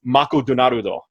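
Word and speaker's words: マクドナルド: Now, you may think that's stupid sounding, but like, if you take the word McDonald's and you make it into a Japanese, how they say it's Mako Donarudo.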